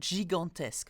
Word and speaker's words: gigantesque: And what I'd like to point out is one word, gigantesque, okay? And we are going to find out where we pronounce the je of the G here and the g sound of the G here.